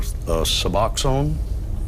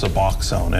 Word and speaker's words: Suboxone: A Saline County viewer, most insurance does not cover Suboxone. Am I pronouncing it correctly?